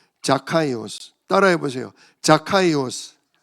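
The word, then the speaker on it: Ζακχαῖος: 어 이스라엘 나라 발음으로는이 원래 성경에 그대로 써 있는 발음이에요. 자카이오스.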